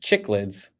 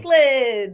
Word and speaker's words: cichlids: I saw a video, not a fish only video, and they pronounced it chicklids. I wonder how often it happens all the time. Cichlids.